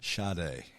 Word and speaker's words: Sade: Sade.